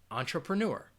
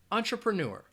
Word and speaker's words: entrepreneur: say it after me entrepreneur entrepreneur entrepreneur and you are going to have that schwa sound in that second and third syllable ah try pro nor entrepreneur alright the next word